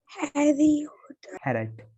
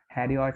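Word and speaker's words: Herriot: हैरेट। हैरेट। हैरियट नहीं पढ़ना उसको, ना हैरियट पढ़ना, कुछ नहीं, जेम्स हैरेट। जेम्स हैरेट जो है वो सही प्रोनाउंसिएशन होगा, और वो वेटरनरी डॉक्टर थे।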